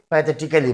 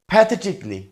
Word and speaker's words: pathetically: হচ্ছে হাস্যরসাত্মকভাবে এরপরটা দেখেন পি এ টি এইচই টি আই সি এই এল এল ওয়াই এটাকে আমরা অনেকে প্যাথেটিক্যালি বলি কিন্তু এটা আসলে ভুল উচ্চারণ এটার সঠিক উচ্চারণ হবে প্যাথেটিকলি প্যাথেটিকলি এবং এটার বাংলা অর্থ